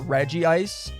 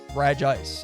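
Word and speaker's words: Regice: I've always always said Reggie ice. This is like the first time genuinely ever that I've said re ice because when I caught him the other day, I noticed I noticed it's spelled re ice. Reg Ice. It seems like pretty straightforward. Um, so I'm calling him Reg Ice and I'm pretty sure that's what it is.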